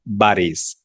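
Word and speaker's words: باريس: যেমন আমরা বাংলায় বলি প্যারিস। এটাকে আরবিতে বলে বারিস।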